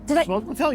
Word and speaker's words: sfogliatelle: Sfogliatelle, you said Did it right.